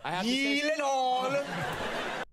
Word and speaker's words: Gyllenhaal: The name Gyllenhaal, I never know if I'm pronouncing it correctly. It is a Swedish name, is it not? It is a okay. Swedish name. So yeah. Shouldn't it be like Gyllenhaal? Oh my god. Gyllenhaal. The only two places that that is pronounced correctly, my last name like you did just now, is in Sweden and in IKEA.